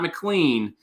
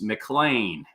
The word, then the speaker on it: McLean: over McLean Texas and it's not McLean it's McLean McLean as if it's m-c-l-a-i-n that's how they say it down there so when you go